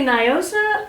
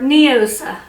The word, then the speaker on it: Noosa: body whatever first off do you say Noosa or neosa apparently neosa neosa apparently we've all been saying it wrong because like the founder lady orever she's like neosa yeah neosis that's so